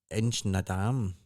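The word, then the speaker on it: Inchnadamph: You pass Ledmore Junction and Inchnadam. It's spelled DAM. PH, but it's The Inchnadam. PH is The PH silent. is silent, yeah.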